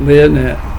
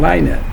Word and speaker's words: Lynette: And they went out there and they put some funding together so that Lynette, and I said it right, Lynette, okay, not Lynette, Lynette.